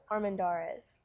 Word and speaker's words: Armendariz: She was unable to join us last week, but, and I'll get you to pronounce the last name for us. Armen Darees. Armandares.